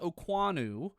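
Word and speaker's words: Okuayinonu: It's pronounced Oanu, but it's Okayuaynonu. Oanu is the way he wants it, and I hope I'm doing that right.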